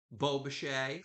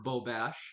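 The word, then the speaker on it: bobèche: And I love how they have their built-in Beaubachet or Beaubeche, however you want to pronounce it.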